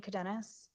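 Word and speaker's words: Cadenas: appropriate hello your honor my name is cadenis all right can you spell that last name c-a-d-e-n-a-s okay go ahead also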